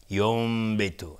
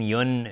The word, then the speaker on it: ينبت: میگیم اقلاب یا قلب، چون نون تبدیل میشه به حرف دیگری، تبدیل میشه به میم، یوم به تو، نمیگیم یون، یون به تو، نه، یوم، یوم به تو، یوم